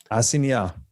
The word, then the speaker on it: assignat: Assignat. Yeah, the GN, assignat, in French, the GN is nya.